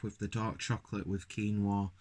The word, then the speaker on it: quinoa: the dark chocolate with quinoa or Quinn Noah however you want to pronounce it even though I think it's quinoa and orange flavor okay